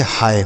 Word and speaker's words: hi: HI तो यच से हो जाता है ह, और इस आई का उच्चारण आपको ई के रूप में नहीं करना, आय के रूप में। तो इसे पढ़ेंगे हाय।